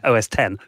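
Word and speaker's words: OS X: in there but yeah you don't pronounce it OSX so that's what was being there you know a b bear what is it OS 10 oh okay Roman numeral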